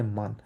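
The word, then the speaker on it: Männer: এন এন থাকার কারণে মান। আর এটা এটা হচ্ছে এম এ, মেন না, মেনা। একদম শর্টকাট আমরা বলি হচ্ছে মেনা, মেন, কারণ এটা উমলাউট আছে, আয়ের মতো, এর মতো উচ্চারণ হয়।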